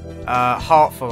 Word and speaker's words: Hatoful: on words just because the pronunciation of heartful I think is if he pronounced it's pronounced like hateful in English calm corn bracelet on